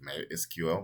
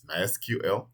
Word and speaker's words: MySQL: pronunciation of this name it's mysql some people say my secret so if you hear people say i'm using mexico mexico they literally mean this particular spelling my sql uh it's actually free